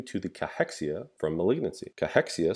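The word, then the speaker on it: cachexia: Cahexia, sometimes pronounced cexia will be caused by TNF alpha.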